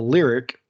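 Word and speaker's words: Lyriq: announced a new cadillac um a lyr the lyric i'm assuming i'm pronouncing that correct it's l y o r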